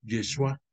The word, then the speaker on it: Yeshua: Es el término de salvación en hebreo se pronuncia igual que el nombre de Jesús, Yeshua.